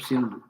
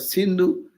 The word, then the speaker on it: Sindhu: When Persians visited that, they could not pronounce the word sin, S. They pronounce S as H. So Sindhu become Hindu.